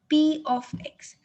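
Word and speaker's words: p(x): forms they use but actually we pronounce it or we spell it as p of x that's how you need to read this term p of x clear many people make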